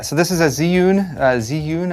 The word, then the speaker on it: Zhiyun: Yeah, so this is a Zhiyun, Zhiyun I believe is how it's pronounced.